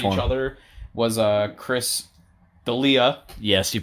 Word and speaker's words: Chris D'Elia: Was, Chris D'Elia. Yes, you pronounced it correctly.